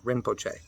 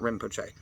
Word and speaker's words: Rinpoche: It's actually Rin, R-I-N, Rinpoche, not Rinpoche. There is a M sound in Tibetan. If they wanted it Rinpoche, they would have put a Ma instead of a Na.